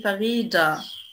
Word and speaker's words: Fahrräder: Das Fahrrad die Fahrräder die Fahrrad نطق تي هنا. Fahrräder نطق دي.